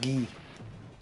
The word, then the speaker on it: Guy: Guy is a real first name. Yeah. It's actually pronounced Gee.